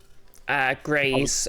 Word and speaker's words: Greys: Greys, as in the colour grey. Oh, Grays. Oh, okay. I was hearing that completely wrong. Yeah, I am very pointedly pronouncing it Greys, though. So it sounds like an injury.